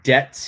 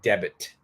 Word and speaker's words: debt: This B is silent. We don't say debit.